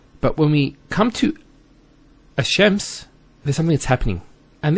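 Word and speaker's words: الشمس: And because they're very close, what happens is this lam is not pronounced. And what happens instead is the lam is pronounced as a sheen. So there's actually a shadda here. So it's Ash-Shams, not Al-Shams.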